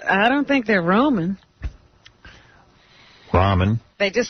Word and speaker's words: ramen: know if they were Roman or Ramen no it's Ramen that's how you spell it r-a-m-e-n I thought there's Ramon